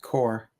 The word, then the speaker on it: corps: shred them Rams will win why if Corpse pronounced like a core cuz it's it's it's French oh I want